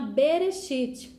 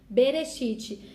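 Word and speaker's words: בראשית: de desses bom então Gênesis Na verdade ele não chama Gênesis na Bíblia Hebraica ele chama bereshit bereshit e benefit significa no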